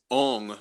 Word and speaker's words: Ong: It is Ong, which is the same as Om. It's the energetic is actually, the energetic is a different pathway, obviously, because you're using NG instead of OM.